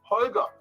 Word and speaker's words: Holger: It's GH in the Lamborghini brand name, and that is a hard G, right? Like, hey, coincidence. In my first name, Holger, right? Some of you who try to show, hey, I learned some French, I try to pronounce the name in the French way. I make a whole jar out of it. Sorry, the Danish guys don't have soft G's. They only have hard G's, like all the Vikings